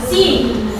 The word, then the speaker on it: see: Oke, jangan nanti misalnya yang lain apa bacanya itu say katanya. Si. Ingat ya si. Biasanya huruf E itu berubah menjadi I bacanya kalau dalam bahasa Inggris.